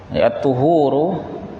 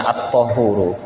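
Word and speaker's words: الطهور: Ada yang membacanya dengan at-tuhuru, dan ini yang masyhur, tetapi ada juga yang baca dengan at-tahuru ya, dengan fathah pada huruf ta-nya ya.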